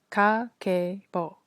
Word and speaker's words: Kakeibo: kakabo pronounced ka ke bo it's japanese household financial